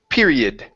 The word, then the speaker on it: period: okay one more time perid with a short i period period there you go